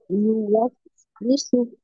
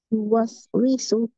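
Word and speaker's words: يُوَسْوِسُ: এরপরে ওয়াও এর নিচে কাসরা, উচ্চারণ হবে উই, উই, উই, ইউওয়াস উইসু, ইউওয়াস উইসু। বলেন তো ইউওয়াসউিসু। মাশাআল্লাহ, উইসু, উইসু, উই, উই, ইউওয়াস উইসু, ইউওয়াস উইসু। ইউওয়াসউিসু।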